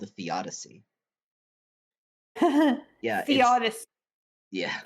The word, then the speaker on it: theodicy: That's called a theodicy. Yeah. Theodicy. Yeah. Sounds like the Odyssey.